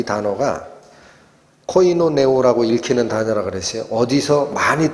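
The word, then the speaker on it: κοινωνέω: 나누어 갔다라는 이 단어 공급하다라고 번역된 이 단어가 코이노네오라고 읽히는 단어라고 그랬어요. 어디서 많이 듣던 발음이 나오죠.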